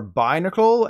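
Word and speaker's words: Binacle: cuts your hair but the correct pronunciations are by nickel and barbarical the easiest way to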